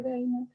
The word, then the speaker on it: Dana: Se escribe Dana, se escribe Dana y se pronuncia Deina.